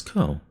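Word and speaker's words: Kou: But, Kuaraki, or Ko, right? It's Ko.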